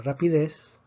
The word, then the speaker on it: rapidez: excepción rapidez y rapidez rapidez tiene tres sílabas termina en zeta que no es ni en ese entonces pero decimos que la fuerza está en la última sílaba entonces la palabra rapidez no necesita acento aquí